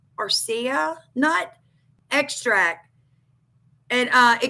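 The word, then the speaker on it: areca: Um it goes on to say we assess the curative effect of either pumpkin seeds or I think it's pronounced archa nut. A r e c a arca nut extract.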